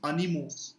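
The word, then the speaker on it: animaux: And again, if you see, AU is O. So this becomes animo.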